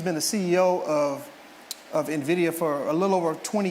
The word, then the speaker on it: Nvidia: Uh but Nvidia, everyone say Nvidia. Nvidia. Yeah, Nvidia is spelled Nvia.